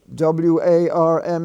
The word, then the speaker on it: warm: though it's in the ar spelling family it's pronounced war w-a-r-d is ward w-a-r-m is warm it's not warm it's warm and